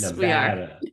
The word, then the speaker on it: Nevada: So you are in northern Nevada. Nevada. Yes, Nevada. we are. Nevada. You got to say it right. Only those that aren't from Nevada say it incorrectly, right?